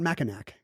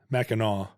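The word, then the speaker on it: Mackinac: have a silent sea it's not macac right maau it's like uh well there's a jacket called the ma and named after the island must be and you don't say a macak jacket you don't do you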